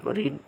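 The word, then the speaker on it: read: Full form, present form, বানান তিনটা একই, কিন্তু উচ্চারণ আলাদা। প্রেজেন্ট ফর্ম হলে রিড হবে উচ্চারণ, আর past form, past full form হবে উচ্চারণ রেড, কিন্তু বানান একই থাকবে।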